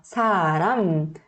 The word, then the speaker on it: 사람: Quando você for pronunciar pessoa, 사람, tem que fechar os lábios direitinho, tá?